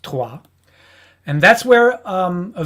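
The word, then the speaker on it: Troyes: it's written troye s in english but it's pronounced tua and that's where um a very uh prominent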